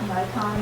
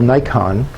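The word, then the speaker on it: Naikan: The reflection side of the material is something called Nikon. It's a Japanese word that's pronounced like we mispronounce the camera, Nikon.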